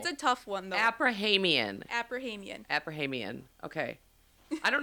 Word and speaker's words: Aprahamian: Abrahamian See I always mess that up. I'm always so close. Is it just the number of syllables? Abrahamian Abrahamian Abrahamian Yeah.